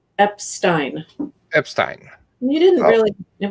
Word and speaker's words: Epstein: i butchered your last name how do you pronounce your last name epstein epstein you didn't really it wasn't that bad